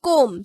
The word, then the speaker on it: comb: We pronounce it as comb. So B is the silent letter. And remember students, letter B is not pronounced when B comes in a word after M.